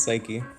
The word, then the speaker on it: Psyche: Especially we're looking at like splat zones on Inkblot Art Academy, and correct me on the pronunciation here, but is it Psyche? It's Psyche. Psyche, got it.